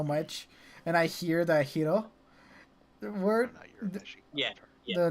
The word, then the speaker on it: Hiro: add that to it hero because i believe that is proper pronunciation yes you are we are yes in japanese okay that's what you